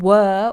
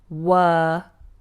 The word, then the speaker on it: were: What were we waiting for, William? Now, one word that many people have trouble with is this one. Were. Look at my mouth. Were.